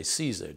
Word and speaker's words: CSER: I think you say CSER, do you not? Right, yes. Someone said that to me. Yeah. Get an interesting pronunciation.